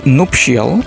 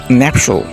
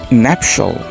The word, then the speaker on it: nuptial: এর ইংরেজি বোঝাতে আমরা এই ওয়ার্ডটি অনেক সময় বলে থাকি নুপশিয়াল। সো নুপশিয়াল এটিও খুব লজ্জাজনক লেভেলের একটি ভুল। সো আমাদের বলতে হবে ন্যাপশাল। Nuptial. Nuptial is the right pronunciation of nuptial.